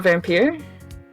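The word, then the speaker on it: Vampyr: as a vampire it's not like it's not vampire no it's it's pronounced uh vampire okay cuz usually like y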